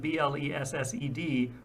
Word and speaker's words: blessed: Webster's 64 states that as a participial adjective, it is commonly sounded with two syllables, and its one-syllable pronunciation, where unlicensed, quote, is a mark of great vulgarity.